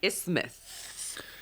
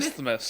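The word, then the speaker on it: isthmus: Then there's the city of Madison itself, which is nestled on an ismath. It is an ismas.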